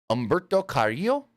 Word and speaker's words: Humberto Carrillo: You can still say the H. Technically it's Humberto Carrillo.